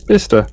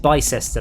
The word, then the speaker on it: Bicester: Yeah, Bista. Yeah, and you didn't pronounce it Bicester like everybody else. Well, no, because that's like saying Leicester.